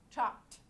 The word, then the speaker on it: chopped: Chopped, okay? But this is one pronounced like one syllable, chopped. We don't pronounce that E, okay?